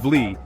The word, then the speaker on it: Wli: Pronounced Wli, this is the highest waterfall in Ghana, and trust me, it's worth the journey.